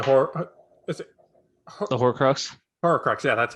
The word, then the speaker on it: Horcrux: Horcrux, yeah, that's how you say it.